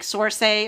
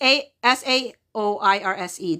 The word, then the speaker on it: Saoirse: It's like Sorsay or Sor, but it's Saoirse.